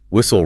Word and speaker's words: whistle: Whistle, wrestle, thistle, hustle, bustle, nestle, apostle.